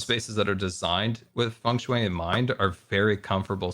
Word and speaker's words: Feng Shui: Feng Shui. Yeah, Feng I Shui. always pronounce it wrong.